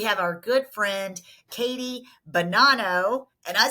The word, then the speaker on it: Bonanno: And today in the studio, we have our good friend, Katie Bonanno. And I said it right. Woo! I was like, it's like banana, but it's not. It's Bonanno, and I'm never going to forget that.